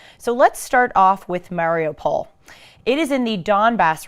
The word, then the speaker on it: Mariupol: in Ukraine variable please have what he said Mario Paul and now you know and now you know